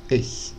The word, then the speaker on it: ich: Tiulidaman, que é o som do CH que a gente reconhece então na palavra ich, né? Ich, eu, em alemão. Esse som, né, esse ich, a gente não tem no português, é